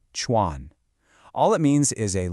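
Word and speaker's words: 船: This character right here, Chuan, pronounced Chuan.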